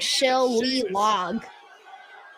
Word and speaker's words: shillelagh: It's spelled like shill-lee-log. Shillelagh.